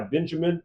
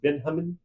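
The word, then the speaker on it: Benjamín: So, they are coached by Benjamin, I think it's actually pronounced Benhamin uh, Mora.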